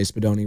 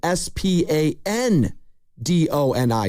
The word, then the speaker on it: Spadoni: Great name, by the way, Angelo Dante Spadoni, rest in peace. When he immigrated to the States, they spelt his name wrong. They said Spandoni, Spandoni, which was incorrect.